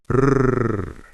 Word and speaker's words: Rrr: These mantras are vocalized in a singing form as follows: Kan, Ban, Rrr. The letter R is pronounced with a high sound and rolled, imitating the sound of the rattles of a rattlesnake.